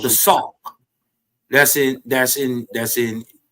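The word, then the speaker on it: Sauk: Um they uh they mix with a people called the fox. So we got a we got a literal a people over here in the Midwest called the sock, but they spell it s a k.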